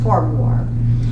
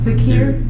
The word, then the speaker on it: Farquhar: I said, I think it's Farquhar. And then somebody corrected me, and it's Fakir.